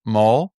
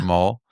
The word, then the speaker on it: Mohl: I am super excited to host Maul. Am I Am I saying it right? Mole, but that's fine. Yeah, Mole.